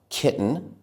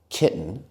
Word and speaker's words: kitten: end like that are kitten, button, and smitten. We can say kitten, button, and smitten, but it doesn't sound as natural as saying kitten, button, and smitten.